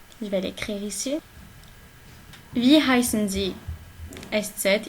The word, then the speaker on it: heißen: La première, c'est Wie heißen Sie? Je vais l'écrire ici. Wie heißen Sie? S7, il se prononce 2 S, ok?